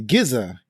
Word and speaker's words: GZA: The Gizza is a member of the Wu-Tang Clan. His name is spelled GZA.